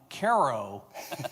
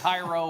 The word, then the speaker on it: Cairo: Uh thank you for correctly pronouncing my hometown Caro, Illinois correctly. So many people get Cairo or Cairo or whatever.